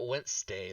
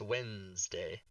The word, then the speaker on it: Wednesday: z than an S it's not W it's not wday it's Wednesday but yes I wish it